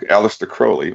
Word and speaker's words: Aleister Crowley: Aleister Crowley, which is actually how it's pronounced.